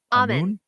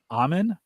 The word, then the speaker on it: Amun: How do you pronounce that? Amun? Amen. Amen. Oh, Amen, because that's basically where Tutankhamun got his name